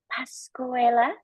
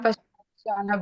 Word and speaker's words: Pascuala: Moving on to Timor Leste, we've got here Pascuela. Did I pronounce it correctly? Yeah, perfect. Thank you. I'm Pascuala.